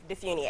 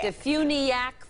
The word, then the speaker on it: DeFuniak: You were close, Meredith. How do you pronounce it? Very close. Defuniak. Defuniak, Florida. There you Where go.